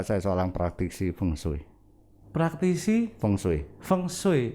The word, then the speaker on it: feng shui: seorang praktisi bungsu praktisi feng shui feng shui feng shui bacanya fengshui selama ini saya tanya feng